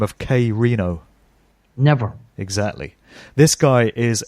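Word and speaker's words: Krino: His name is spelt K-R-I-N-O, K Reno.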